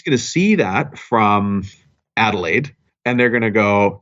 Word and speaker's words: Adelaide: And somebody's going to see that from Adelaide, and they're going to go, did I pronounce that right? Adelaide?